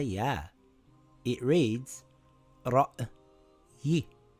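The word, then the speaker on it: رَأْيِ: It reads ra'yi. Ra'yi.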